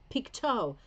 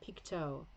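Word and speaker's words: Pictou: try to remember that pikto pikto that's weird isn't it because it's not the French pronunciation either Piko interesting yeah Leah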